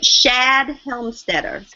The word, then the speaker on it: Shad Helmstetter: Oh, Shad Helmstetter. Can you spell that for me, please?